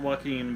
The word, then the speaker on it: Joaquin: up there with Joe, Quinn, Phoenix, Joker on Joaquin. TV. Joaquin, but yes. Sorry. It's spelled weird.